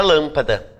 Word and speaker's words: lâmpada: por exemplo, da palavra lâmpada. Tá? Lâmpada, a sílaba tônica é o lã.